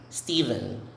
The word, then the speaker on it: Stephen: setting okay this one is these names are pronounced the same way stephen stephen stephen stephen stephen so the ph is